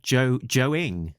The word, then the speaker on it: Joe Ng: I think it's sort of like ING, but you don't spell the I think. Right, I'll run at that again then. Joe-ing, which is a good verb for drawing a Joe comic.